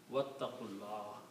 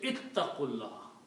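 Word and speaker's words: وَاتَّقُوا اللَّهَ: But, when you recite with wow together, then you don't pronounce the alif.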